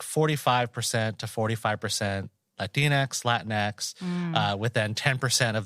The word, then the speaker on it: Latinx: Latinx. Which reminds me kind of like Tinkerbell, but that's fine. Yeah. No, that's how I'll remember to pronounce it that way. With a little like Tinkerbell. Latinx.